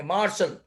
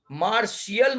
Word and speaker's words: martial: Having to do with the वॉर मतलब कि मार्शल ऐसा बोलते हैं, मार्शियल मत बोलना, मार्शल man, beautiful women and wild.